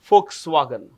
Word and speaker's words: Volkswagen: V becomes F in the German language.